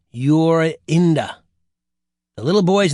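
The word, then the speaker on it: Jorinda: The little girl's name was Yurinda. You pronounce that Yurinda.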